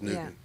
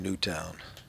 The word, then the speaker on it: Newtown: The sign says "Pray for Newtown." Pray for Newtown. I thought it was Newton. Is it not Newton? Oh, they've been saying Newtown.